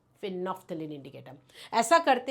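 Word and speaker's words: phenolphthalein: फिनोफ्थलीन जिसमें L silent है। एल की आवाज मत दीजिएगा।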